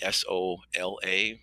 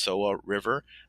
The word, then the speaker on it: Soła: And this first time, the location was on the Soła, the Sola, pronounced Soła River, and the Vistula.